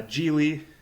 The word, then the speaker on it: Gigli: be talking about uh jie rhymes with really um really a good way to remember it so we'll be